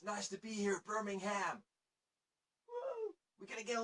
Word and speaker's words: Birmingham: It's Birmingham. You don't really pronounce the H. Birmingham.